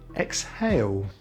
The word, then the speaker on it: exhale: weight and straight and we don't always say the h after ex exhilarating exhausting exhibition but we do say in exhale the constant cluster ph